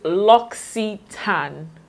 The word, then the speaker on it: L'Occitane: L'Occitane to sample Loxy tan that's how it's pronounced it's pronounced L o XE e te n so L'Occitane now let